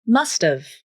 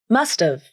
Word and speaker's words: must've: The initial H in have is dropped. Then the A vowel in have is reduced to the schwa, This sounds like must've, must've, I must have gone with you.